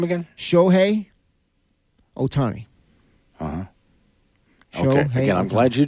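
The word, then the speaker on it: Shohei Ohtani: to deal with them well how do you pronounce his name again shohi Otani uhhuh again I'm glad you did that I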